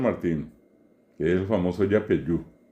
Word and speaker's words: Yapeyú: que es el famoso Yapeyú, que pronunciado correctamente es Yapeyú.